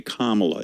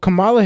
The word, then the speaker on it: Kamala: mispronouncing your name they they act as if they can't say Kamala it's not that comp what's going on what really is going on there when they can't pronounce comma is it supposed to be an ins is it like well Camala Harris just slides off the tongue a little bit better